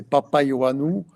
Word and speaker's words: Papaioannou: Ce c'est monsieur Papa Io Anou. Est-ce que je bien prononcer ? Je suis arrivé. Oui. Bonsoir d'abord. Bonsoir à tout le monde. Oui, effectivement c'est Papa Yanou et pour que vous